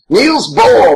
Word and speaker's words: Niels Bohr: Niels Bohr, motherfucker.